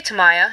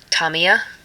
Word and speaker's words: Tamiya: use the ice a tamiya and now I recently discovered that I think it's pronounced Tamia but I'm still saying tamiya so I used to